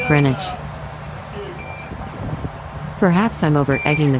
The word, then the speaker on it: Greenwich: been given an upgrade you said greenwich just there but i've heard locals call the place greenwich greenwich not greenwich perhaps i'm over egging